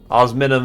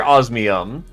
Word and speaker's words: osmium: Yeah, I hear osmium. I understand that's how it's said, but my brain will autocorrect it into something that it thinks it can pronounce more correctly.